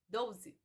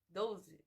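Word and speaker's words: doze: A palavra 12 em português não possui o U, mas nós pronunciamos como se tivesse 12, 12.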